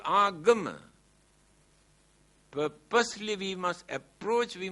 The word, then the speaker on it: agama: Here now they pronounce as ugama, but the original word is agama.